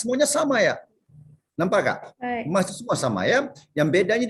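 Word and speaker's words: ます: Mas ini walaupun ejaannya MASU, jangan dibunyikan masuk mas aja ya.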